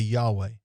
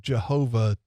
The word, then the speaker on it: Yahweh: Yes, by the technicalities of it, it should be Yahweh. But after so long, when we have used Jehovah with that mispronunciation of it, it becomes an accepted pronunciation.